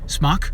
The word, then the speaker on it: SMOK: actual Tank part of it is made by smok or smoke however you want to pronounce it it's s SM o k um